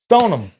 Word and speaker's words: Stoneham: And then you guys said stone them. All right. So some people it's it's spelled stone ham. All right. Stone them. Stone them.